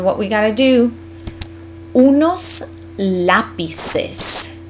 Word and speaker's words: lápices: Unos lápices. And again, you created a new syllable, so you gotta pronounce it.